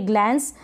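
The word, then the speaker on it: glance: ग्लांस इसको क्या पढ़ेंगे ग्लांस यानी इ को तो पढ़ नहीं रहे जैसे मैंने बताया लास्ट में हम इ को प्रोनाउंस नहीं करते हैं नहीं पढ़ते हैं ग्लांस और एन क्या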